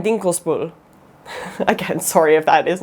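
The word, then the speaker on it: Dinkelsbühl: say these wrong but i think they're pronounced nordlingen rothenberg of their tower and dinkles bull again sorry if that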